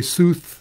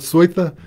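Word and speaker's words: Seuthe: There was a time when if you wanted smoke, you stuck in a, most Americans say sooth, the Germans call it Sweitha, a little smoke unit that'll run off track power.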